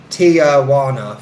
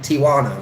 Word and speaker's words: Tijuana: yeah so yeah so I used to say to you wanna like Tijuana four syllables but it's more like Tijuana right Tijuana three but I think it's